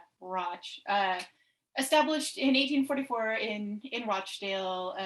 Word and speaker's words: Rochdale: So Roch rhymes with ought. Roch.